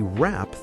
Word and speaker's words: wrap: And we wrap the gift. W R A P. The W is silent.